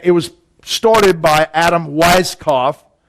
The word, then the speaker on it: Weishaupt: And it was started by Adam Weishaupt, right? Or Weishaupt, if you pronounce it right.